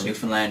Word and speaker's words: Newfoundland: Or for those of you who don't even know where Newfoundland is, first off, it's pronounced Newfoundland, not Newfoundland or Newfoundland. Think it as fun. Newfoundland, yeah.